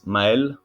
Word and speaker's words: Maël: Next one is Mael. Sorry if I mispronounce some of your name. I don't know you yet, but I will. You pronounce it perfectly.